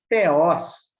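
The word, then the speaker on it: θεός: E theos, que tem uma pronúncia muito parecida com a palavra Deus em português, né?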